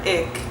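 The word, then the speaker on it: ich: pronounce it like that but you would use it in words like ish but there are some regions that will pronounce it I or ick so you might meet different speakers that pronounce that word differently but the sound as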